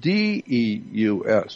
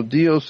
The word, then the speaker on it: Deus: It's spelled D-E-U-S, Deus. And so Deus is God today.